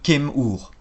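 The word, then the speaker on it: km: égyptien du nom de Kem-Ur, le grand noir. Voici son nom. Le premier signe est un bilitaire qui représente des écailles de crocodile et se prononce Kem.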